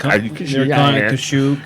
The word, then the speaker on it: Kashyyyk: Kashyyyk. Yeah. Well, it's like Asalamari or Y Salamari or Isalamari. I always pronounced it as Yasalamari.